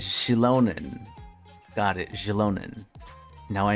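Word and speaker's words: Xilonen: Oh, and Chilan's here, too. Shalon. Oh, that's how you say her name. It's Shilonan.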